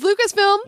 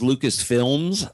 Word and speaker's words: Lucasfilm: What is Lucasfilm? What is Lucasfilm? If he had said, what is Lucasfilms, like so many people do, he probably would have